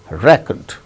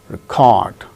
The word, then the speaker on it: record: record the proceedings present the first syllable gains stress present present when it is used as verb the second syllable gain